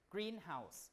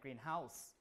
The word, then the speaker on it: greenhouse: So when you have a compound word, the stress pattern is like the primary stress goes on the first syllable, green, greenhouse, rather than greenhouse, okay?